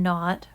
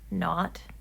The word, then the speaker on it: naught: engineering we use it usually pronounced that not n-a-u-g-h-t um and that's kind of because of the english language roots of electrical engineering not is a common thing in british english to call the letter the number zero and